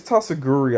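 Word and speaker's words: Tatsugiri: So this Tatsuguri, I believe is how you say it.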